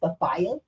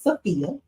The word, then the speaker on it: Sophia: Let's get this name right, Sophia, because I hear even on TV and everybody who said they call it the way it's spelled, they say Sophia. I mean, she brings the fire, but her name is Sophia.